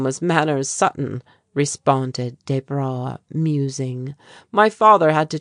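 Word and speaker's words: Desbra: "I of course pronounce my name in English fashion, but it is spelled just as my father's was. D E S B R A. As the young Englishman gave his name its French accent and pronunciation, Jesse uttered a little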